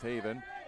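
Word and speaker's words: Haviin: so it's two i's and uh but it's pronounced Haven as she hits the ball over and it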